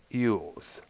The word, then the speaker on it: Elwes: Now, Samaha learned of Battlefield Earth from, of course, Cassian Ewes, pronounced or actually spelled Elwes, an agent from the theatrical company.